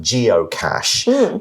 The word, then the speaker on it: geocache: just found your first geocache now it's got a CH but it is pronounced with the sh sound the article then says